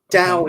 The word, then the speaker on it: Dao: philosophy not a religion Dao is a Chinese word that means the Y often spelled with a t towel um Dao is